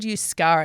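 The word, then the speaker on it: Euskara: language is quite complicated it's actually it's called yuskara it's not even related to Spanish or French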